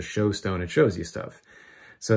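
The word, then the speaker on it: shewstone: look through a stone called a shoe stone which is sort of how they pronounce the show stone it shows you stuff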